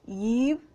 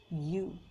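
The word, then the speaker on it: ewe: one e w e we should not pronounce it as eve we should pronounce it as you see here you see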